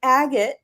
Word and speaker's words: Agate: And so I want to welcome Agate.